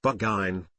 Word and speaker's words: Burgoyne: Nutting had a famous foxhound named Burgoyne, he pronounced it Bugine, which my informant used to borrow.